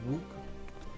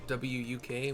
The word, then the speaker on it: Wuk Lamat: I'll pronounce it Wuk, W-U-K, Wuk, but everybody else is pronouncing it Wuk Lamat.